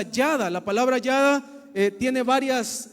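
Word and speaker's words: ידע: En el hebreo se pronuncia yada.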